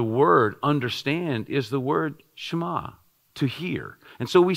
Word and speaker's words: shema: And that's the Hebrew word for hear, often translated here, is the word shema. It's S-H-E-M-A-H, but we kind of drop the E as we pronounce it.